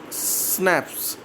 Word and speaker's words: schnapps: This schnapps is snaps. We pronounce it like snaps.